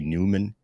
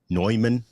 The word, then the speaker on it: Neumann: warm audio or a a newman neumann i gotta say it right that the neumann microphones